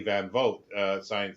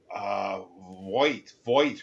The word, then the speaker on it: Van Vogt: Van Vogt, a Canadian science fiction writer, and people were saying, "Oh, that's wrong. It's uh, Voight or something like that." And it's like, no, it's not. He pronounces it that way.